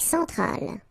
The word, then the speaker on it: centrale: Centrale, remember, E-N nasal, so it goes in your nose.